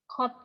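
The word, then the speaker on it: Godot: wait from a mysterious figure named Karat, or pronounced Kot, and spend their time desperately breaking the silence with witty dialogue.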